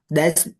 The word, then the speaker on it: des: Des magazine. Des magasins. Des with Des S, magasins. but we pronounce des.